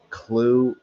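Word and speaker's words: Clew: Clue. It's spelled C L E W.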